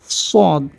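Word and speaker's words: صاد: শিন তারপরের হরফটি হচ্ছে সদ সদ উচ্চারণ করার সময় আমাদের মাড়ির দাঁতের সাথে আমাদের জিহ্বার দুই পাশে যেকোনো একপাশ লাগিয়ে দিলে আমাদের উচ্চারণটা হয়ে যাবে সদ চেষ্টা করলে হয়ে যাবে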